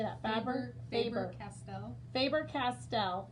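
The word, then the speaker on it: Faber-Castell: you say that fabric faber castell faber castell faber faber like a favor but a favor what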